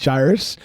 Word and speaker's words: gyrus: It's somewhere up here, the inferior frontal gyus pronounced gyrus and the interior insula insula which are not the fear centers.